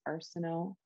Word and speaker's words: Arseneault: type in my name so arsenault so i'll i'll sit in the chat or something you need to set it out but there's a lot of silent letters you can also find